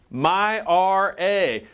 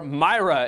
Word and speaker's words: MyRA: discussing a Hot Topic my or Myra as a lot of people are incorrectly pronouncing this thing like a woman's name it stands for my